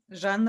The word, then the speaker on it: Zhanna: She's the granddaughter of the actress Zhana Poroshenko, and the daughter, pardon me, you pronounce it. Zhanna Go ahead.